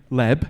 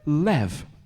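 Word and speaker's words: לב: in the Bible but a b and a v are interchangeable so rather than it's saying Leb it actually says when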